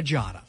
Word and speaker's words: Giada: Is it Giada or Giada? How do you say it? Giada.